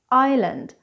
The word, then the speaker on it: island: s in the words island Isle islet these words are often mispronounced because most people think we should pronounce this this s but in fact we never do.